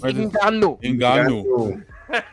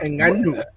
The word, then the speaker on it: Ngannou: You gotta say it right. Francis Ngannou. Nah, stop. Ngannou.